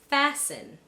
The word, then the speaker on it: fasten: Also, when a word ends in sten, it would be right for you to assume that the T is silent. Let me give you some examples. Glisten, fasten, christen, moisten.